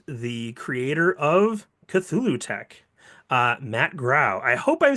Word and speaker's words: Grau: I would like to introduce the creator of CthulhuTech, Matt Grau. I hope I'm saying it. I really should have asked you that beforehand. Is it Grau or Grow? Yeah, you're saying it correctly, and thank you.